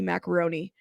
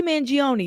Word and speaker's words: Mangione: tell you guys something I I said his name wrong um Luigi I called him Luigi macaroni I don't know why oh stupid um Luigi mangion y'all my mind is I'm going to tell